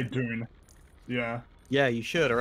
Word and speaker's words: Dune: movie has come out you could go with dude or junior strictly correct dune dune i'm trying to think